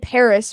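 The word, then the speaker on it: PVRIS: pretty female artist uh the band Paris but it's spelled PV r i s uh they started they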